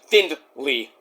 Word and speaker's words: Findley: So anyway, Devo Knight and Alex Finley, not Finley, like Finley, but Findley, or Finley. But I think it's pronounced Findley.